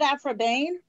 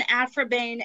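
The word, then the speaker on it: Aphra Behn: sorry isn't it afro bane jane austen should have laid a wreath upon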